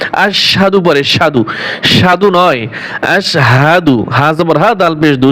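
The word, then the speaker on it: أشهد: ভুল করে পরে আশহাদু পড়ে সাধু সাধু নয় আশহাদু হাবর হাফ পেশ দুই উচ্চারণ কি হবে আশহাদু আশহাদু আল্লা ইলাহা এই লা এখানে তিন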